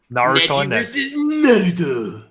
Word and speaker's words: Naruto: going to snap so true let's start with naruto yes thank you for pronouncing naruto correctly bro i always do um